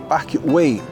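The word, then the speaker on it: Park Güell: Se llama parque, se escribe así, pero la forma de decirlo es Park Way y inicialmente era un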